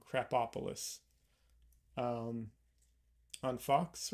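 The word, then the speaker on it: Krapopolis: show on Fox called crap opaly crap opis uh sorry I got the pronunciation wrong crap opolis um on Fox right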